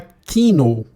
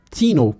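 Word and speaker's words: Theano: A sexta biblioteca é a Theno, eu vou pronunciar como que escreve, é T-H-E-A-N, Theno, põe no Google aí, dá uma olhadinha.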